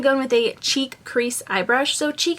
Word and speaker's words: Chique: So next I'm going to go in with a cheek crease eye brush.